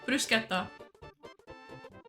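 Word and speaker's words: bruschetta: French one called not French Italian Brisa that's how you say it not French Mas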